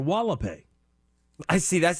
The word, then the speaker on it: Hualapai: I think it's pronounced Hualapai or Wallapai.